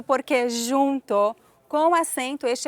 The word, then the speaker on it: porquê: Porque quando se diz porquê, escreve-se com acento circunflexo. Quando se diz porque, escreve-se sem acento. Já sabe pela própria pronúncia.